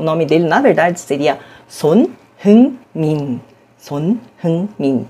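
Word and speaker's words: Son Heung-min: Olha, eu já ouvi Hauminson, Hilminson, Hyunminson. Daqui a pouco vão falar Hamilson ou Edmilson. De fato, a pronúncia não é lá muito intuitiva a partir da transcrição em letras romanas.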